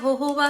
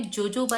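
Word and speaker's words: jojoba: सब लोग मैं जब वीडियो में बोलती ना 1 टेबलस्पून वॉट एवर होहोबा ऑयल, अरे आप होहोबा क्यों बोल रहे हो? लिखा आपने जोजोबा है।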